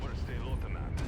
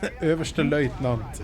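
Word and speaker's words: överstelöjtnant: landing, Overstay Lieutenant. That's not how you pronounce that. Överste Leutnant is how you pronounce that.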